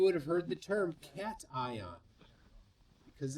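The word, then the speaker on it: cation: Uh Justin Maxwell for five pounds says, "Cat I the T is from the prefix and the uh I is from the suffix."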